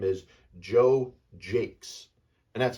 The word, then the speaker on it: Jacquez: the Boston Red Sox his name is Joe Jake and that's how his last name is j